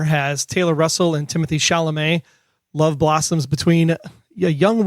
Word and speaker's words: Chalamet: a while because it has Timothy chalamet and that's actually how you say his name suck it but it